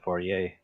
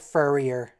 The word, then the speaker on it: foyer: trek multiple times but nobody ever pronounced it right it's a foyer foyer yeah for yay french everyone always says like furrier in star trek at